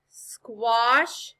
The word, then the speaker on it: squash: the a that's right when the letter a comes after the letter w or the letters q u it often makes a sound similar to the short o it makes the off